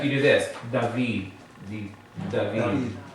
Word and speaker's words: David: You don't go David, right? You go David. It almost sounds like you're making a TH out of the D.